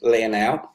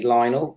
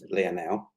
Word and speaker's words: Lionel: let's introduce myself so my name's leonow a lot of people like to call me lionel because the way it's spelled but actually i was christened leah now um so my um